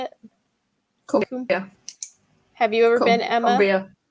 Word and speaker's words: Cumbria: Is it Cumbria? Is that how you say it? Cumbria.